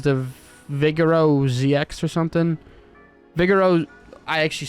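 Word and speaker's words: Vigero: Vigoro, I actually said it right.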